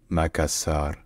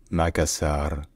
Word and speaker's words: Makassar: in the masso language first in Indonesian is just makasar makasar Makar makasar and then